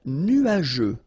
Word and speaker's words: nuageux: Un ciel nuageux. This can be quite tricky, but take the time to nuageux. Remember, final X here, not pronounced.